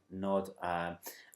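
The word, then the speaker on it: Gnod: But one by a band called Goddamn, another by a band called Nod, or it's G-N-O-D, and I think it's pronounced Nod. Like Gnome. Yeah. Nod, and King Lizard and the Gizzard Wizard.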